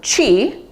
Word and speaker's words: Qi: familiar with the term Chi uh you've if you know anything about acupuncture traditional Chinese medicine you've probably heard the term Chi people spell it either Qi or Chi they're used interchangeably often